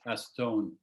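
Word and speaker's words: acétone: Acetone, it's the same word in French, except it's just pronounced French, like acetone.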